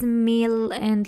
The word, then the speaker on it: mille: that's gonna be meal we have a Double L in here so we have to pronounce it in the syllables meal and lair so that's meal